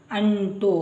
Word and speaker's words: ಅಂಟು: ಬರುವ ಅಕ್ಷರ ಅನುನಾಸಿಕ ಇದು ಅಂಟು ಈ ಸೊನ್ನೆ ಬಂದಾಗ ಇದರ ಉಚ್ಚಾರ ಅಂ ಅಣ್ ಅಂಟು ಇದು ಟ ಆಯ್ತು ನಂತರ